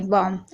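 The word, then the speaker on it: bomb: अब जैसे कि आप देख रहे हैं बॉम्ब, यहाँ पर देखिए एम से पहले वी है, यानी बी से पहले एम है, तो यहाँ पर बी साइलेंट है, बॉम्ब।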